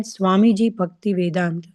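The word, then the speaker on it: Swamiji Bhaktivedanta: He said Swamiji Bhakti Vedant, and then he proceeded to tell me what that meant.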